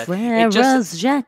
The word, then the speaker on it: Frère Jacques: And they wouldn't pronounce the S and Z. Frères Jacques.